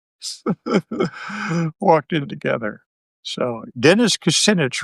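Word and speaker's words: Kucinich: So, Dennis Cassinich rhymes with spinach.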